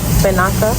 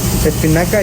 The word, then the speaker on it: espinaca: Did I say spinach right? Yes. Spinaca? Espinaca, yes. Spinaca, okay. Ranch.